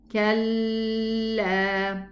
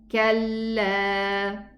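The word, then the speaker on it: كلا: Don't be stuck in the lam shadda, meaning don't allow your tongue to be stuck in the exit, so that a ghunna is going to be produced like this. Kalla. This is not proper pronunciation. The lam doesn't have any ghunna. So just go to the lam sukoon and then move to the lam fatha.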